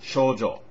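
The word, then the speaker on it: 少女: by that name PR correct pronunciation would be to draw out that first o to distinguish it from female virgins Sho young girl Sho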